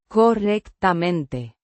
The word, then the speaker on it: correctamente: Pronounced. Correctamente. The stress is on the second syllable.